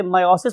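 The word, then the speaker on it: meiosis: एनमल काम करना है आप लोग इसे मायोटिक भी बोल सकते हो मयोटिक भी बोल सकते हो जो लोग इसे मायोसिस प्रोनाउंस करते हैं वो इसे मायोटिक पटस बोलते हैं और जो लोग देसी स्टाइल में इसे मयोसिस कहते हैं वो इसे मयोटिक अपटर्स बोलते हैं मोस्ट इपोर्ट थिंग इज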